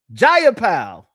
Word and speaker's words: Jayapal: Jayapal.